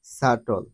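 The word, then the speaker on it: subtle: বি টি এল ই সাটল এখানে প্রতিটি শব্দে বি এর পরে টি রয়েছে যার কারণে উপরের এই নিয়ম অনুযায়ী প্রতিটি শব্দে বি এর উচ্চারণ সাইলেন্ট হয়েছে অথবা বি অনুচ্চারিত রয়েছে আশা করি সকলেই বুঝতে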